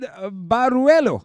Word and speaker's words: Baruelo: This time around, we got singer and guitarist Baruelo.